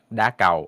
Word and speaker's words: đá cầu: Shuttlecock, how to pronounce it in Vietnamese is đá cầu or cầu đá, depending where you're coming from. Mostly, there is an emphasis on the second syllable.